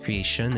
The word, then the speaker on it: creation: dearest creature in creation creature creature the t is CH creation is an sh sound dear creature in creation